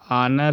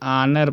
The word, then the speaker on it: honor: Before consonant देखो ये एच है, एच के पहले एन, ये आनर है, HONOR, ये आनर पढ़ते हैं, आनर, तो ये स्वर है इसलिए एन आ गया।